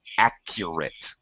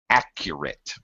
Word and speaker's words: accurate: end with a voiceless sound have a t pronunciation balanced washed uh all right right um watched okay and uh next one accurate accurate accurate accurate accurate say a u in there